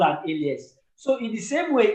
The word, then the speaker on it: alias: Did you say alien or what? Alias. How do they pronounce it? Elias. Oh, ALIAS. Exactly. Alias. Oh.